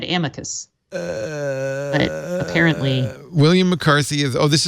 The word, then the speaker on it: amicus: Justice Breyer adopted an Anglo-Latin pronunciation. It will make any Latin teacher apoplectic, but it has English and American history behind it.